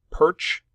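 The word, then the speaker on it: Pyrcz: well first and foremost my last name is pronounced perch I have been informed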